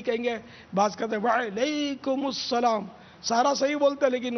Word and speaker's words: وعلیکم السلام: وعلیکم السلام درست اس کا تلفظ ہے، وعلیکم السلام.